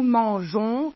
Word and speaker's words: mangeons: a trouveré une solution on ajoute un E qui se prononce pas après le G on prononce comme dans l'infinitif nous mangeons GS vous comprenez maintenant